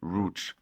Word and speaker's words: Łódź: roou because you know this polish L with the line through it is a w and the Z with an accento on top of it is a sh and the D is relatively silent so lots becomes rou now Lots you may